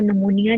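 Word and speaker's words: pneumonia: ठीक है, निमोनाई जब बोलेंगे तब ऑर्गेनिज्म का नेम है, और नमूनिया जब बोलेंगे तो वो डिजीज का नेम होता है। ठीक है, इनकी प्रोनाउंसिएशन थोड़ी सी डिफरेंट है। नमूनाई ऑर्गेनिज्म नेम है और नमूनिया जो है वो डिजीज नेम है।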